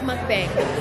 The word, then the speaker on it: mukbang: It's mukbang.